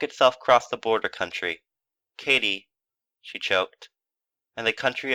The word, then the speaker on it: Katy: "It is spelled Katie," Kate went on, "and is pronounced K-T.